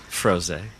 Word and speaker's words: Froese: up and how do you say that one froze oh Jose yeah like rose all right when